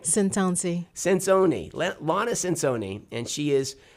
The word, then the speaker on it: Centonze: Did I pronounce that right? Centonze.